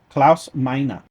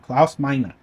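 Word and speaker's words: Klaus Meine: Next up on the list, Scorpion singer Claus Mina. And I swear to God, I Googled it, I did the translation, I did the pronunciation thing, and that's what it told me to say. Claus Mina.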